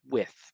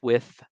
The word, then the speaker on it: Wythe: George Wythe, and it's spelled Wythe, which is with. I promise you, it's with.